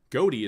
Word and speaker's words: Ghoti: It is derived from the gh in tough pronounced as a f sound, the o in women pronounced as an i and the ti in nation pronounced as a sh sound.